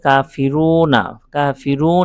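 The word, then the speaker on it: كافرون: খাড়া জবর এসেছে এজন্য তারপরে কাফিরুনা কাফিরুন এখানে ওয়াকফু করে তিন আলিফ টেনেছি এটা তো বললাম যে মদের হরফের বামের হরফে ওয়াকফ করলে তিন আলিফ টেনে পড়তে হয় এটাকে মদ্দে আরজি বলে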